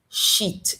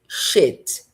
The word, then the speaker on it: shit: Então não fica sheit, fica shit.